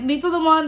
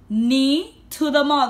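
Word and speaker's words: Neethathema: I'm like, knee to the Mon. They're like, what? How do you spell that? I'm like, N-E-E-T-H-A-T-H-E-M-A. Knee, like Nima, and then you put the in the middle.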